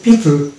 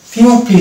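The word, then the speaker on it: people: ই এই ক্ষেত্রে আমরা এটাকে উচ্চারণ করবো পিপল পিপল পিউপিল না পিউপিল না তাহলে পিপল অর্থাৎ ও স্বরে থাকবে নেক্সট ওয়ার্ড হচ্ছে এটা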